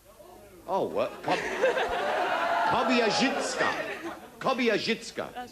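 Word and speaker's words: Kobierzycka: If you get the pronunciation right, it's Kobyachika. Oh, what? Kobyachika.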